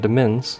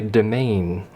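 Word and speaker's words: demesne: I've been pronouncing it demens, because that looks like what it is. Or demens, if I dyslex it and pronounce it backwards, and I like to do. But apparently that is actually domain, as in domain, but with an E.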